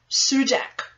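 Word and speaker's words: Sudac: gentleman by the name of bear with me it's spelt z-l-a-t-k-o zlatko sudak s-u-d-s-u-d-a-c now he was born in 1971 so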